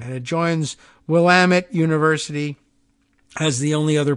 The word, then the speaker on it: Willamette: the cool rhyme of it's Willamette damn it which does help a